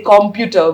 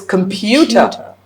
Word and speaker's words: computer: Why when people say computer, we say it's wrong. Is because comm is not the stressed syllable. It's pew. So it's computer and you know